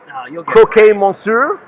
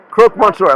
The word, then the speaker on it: croque monsieur: do you get and i'm gonna totally blow the pronunciation of croquet monsieur a grilled steak sandwich or a how is it croque monsieur leave it to the guy from the uk to correct my french and tuna nicoise salad